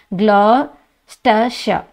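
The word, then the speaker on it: Gloucestershire: Actually இதை எப்படி pronounce பண்ணுறதுன்னு பாருங்கள், க்ளாஸ்டர்ஷா, ஓகேங்களா, க்ளாஸ்டர்ஷா அப்படின்னு தான் சொல்லணும்.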